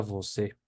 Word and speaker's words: você: Que es una E más abierta que en español, ¿sí? ¿Sí? Se pronuncia E, ¿sí? La palabra más común con esa, yo creo que es la palabra você, ¿sí?